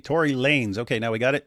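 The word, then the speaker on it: Tory Lanez: So apparently people in the chat are saying his uh name is pronounced Tory Lanes. So it's Lanes and he just styles it with a Z. Tory Lanes.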